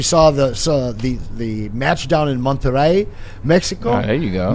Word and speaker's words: Monterrey: I don't know if you saw the match down in Monterrey, Mexico. Oh, there you go. Man, that stadium, wow. Yeah. I pronounced it right, too, because there's someone in